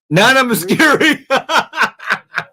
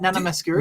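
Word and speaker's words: Nana Mouskouri: Nana Muscuri. Hang on, that's not Greek. Not Macedonian. That's Greek, mate. Come on. Where's Did I Demos? say it right? Nana Masuri?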